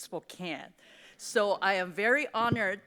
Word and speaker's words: Spokane: It's not Spoke, it's Spokane." So, I am very honored to be here today at Spokane.